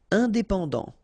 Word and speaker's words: indépendant: Indépendant. Final T not pronounced.